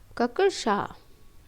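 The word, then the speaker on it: कक्षा: तो कच्छा शब्द का शुद्ध उच्चारण होता है ककशा, ये होता है, क्योंकि का और शा मिलकर छा बना देते हैं, और शा में आ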